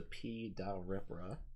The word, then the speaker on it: Pripra: P is silent for poison. All right. He's a P ripra.